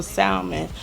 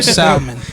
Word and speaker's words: salmon: I want a personal salmon, or give me some shrimp. Yo, did you just pronounce the L in salmon? Yeah. Listen, there's two types of people in the world. Facts, man. Salmon.